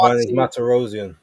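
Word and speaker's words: Vanes Martirosyan: And also, rest in peace to is it I can't pronounce his name. Vanis. Oh, Van is Matarosian.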